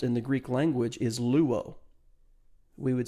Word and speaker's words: luo: word for melt in the greek language is luo we would spell that l-u-o and it means to to be